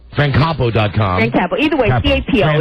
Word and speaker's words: Capo: Either way, C-A-P-O. It's spelled the same way, whatever way you pronounce it. Capo. Capo. Capo. Think of a cap with a little O at the end.